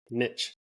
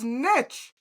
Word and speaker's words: niche: we are all very Google has two options uh on how to pronounce it's niche wait wait wait this is a British pronunciation nich okay and let's click American nich oh you do hear it